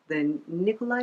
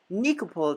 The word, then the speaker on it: Nikopol: Yeah, Immortals is based off the Nikolai trilogy. And I could be saying it wrong. I did say it wrong. It's the Nikopol trilogy by Inke Belial.